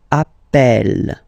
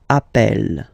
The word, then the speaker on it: appelle: So when you get this E vowel, and then you get a double consonant, and well, they are the same, then it does change the pronunciation of E.